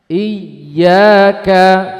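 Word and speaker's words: إِيَّاكَ: harus dibaca dengan hentakan iyaka coba Jangan memanjangkan i-nya tapi y-nya ada hentakan i Nah kalau ada membaca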